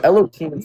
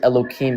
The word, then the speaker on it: Elohim: I say Elohim because I don't pronounce the hey, not like any specific advantage.